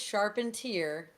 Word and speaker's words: Charpentier: Jared says Charpentier, and apparently Rome's mom said that's how you say it.